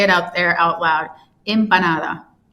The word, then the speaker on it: empanada: out there out loud, impanada. Imp. Oh, so it's like an I. It's like imp. Uhhuh. The E are pronounced like I's in Spanish.